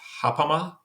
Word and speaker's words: Ghapama: And this is, I'm sure I'm going to mispronounce it, but I believe it's hapama. And it's actually spelled Ghapama.